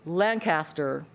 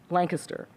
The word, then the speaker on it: Lancaster: And if you pronounce it Lancaster, it is a dead giveaway that you are an outsider.